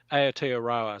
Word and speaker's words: Aotearoa: in new zealand and and what is that a terror how do you pronounce that aotearoa so that's the maori name for new zealand